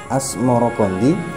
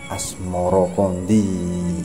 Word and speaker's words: Asmoroqondi: Ibrahim Asmoro Hai nah sebutan itu mengikuti pengucapan lidah Jawa atau ilati wong Jowo ya dalam melafalkan as-samarqandi yang kemudian berubah menjadi asmoroqondi hai hai Hai